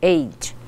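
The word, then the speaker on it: ate: o passado do it como é Eight ats mas a gente pronuncia aid então nós comemos ou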